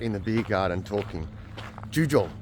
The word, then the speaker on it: Jugiong: juj and uh I think that's how you pronounce it juj I was listening to people last night in the beer garden talking ju Jong not juy Jong I don't know what I was calling it